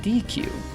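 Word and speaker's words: dequeue: Okay, but this is pronounced DQ.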